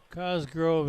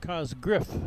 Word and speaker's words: Cosgriff: Cosgrove is in. Cosgriff, excuse me. I mispronounced his name.